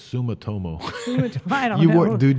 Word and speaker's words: Sumitomo: Motosumi, I believe, Motosumo. Yeah, so they sold back in 2015 to Motosumo. So for 9 years. Okay, listen, it's Sumitomo.